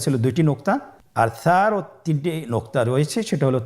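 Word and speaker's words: ث: আর সারও তিনটি নোক্তা রয়েছে, সেটা হলো তার উপরে। তাহলে তিন নোক্তাওয়ালা হরফটিকে কি বলে? সা। আবার বলুন সা। হরফটি বারিক মানে পাতলা করে উচ্চারণ করতে হবে।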